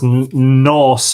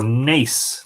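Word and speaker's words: Nás: So this is Nos or Nace, and the town of Nace is in County Kildare.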